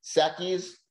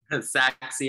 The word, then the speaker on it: Sachse: strong gpa of 3.4 i always mess up how to say the name of the school sackeys john lennon how do you say the day of the high school saxey high school saxey high school up